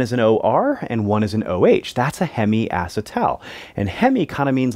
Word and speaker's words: hemiacetal: that double bond and this is what we call a hemiacetal you might also hear people pronounce it hemiacetyl take your pick all right